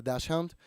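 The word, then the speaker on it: dachshund: Is that how you pronounce it? Yeah, Dashhound.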